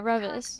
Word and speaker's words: Reavis: As I say their name wrong, is it Reavis? Is it Did I say it right? Yeah, Reavis.